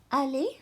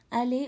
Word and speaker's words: aller: Aller au parc. ER in French sounds like an A. Aller au parc.